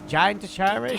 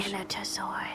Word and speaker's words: Giganotosaurus: What was Gigantosaurus? Giganotosaurus. Giganotosaurus.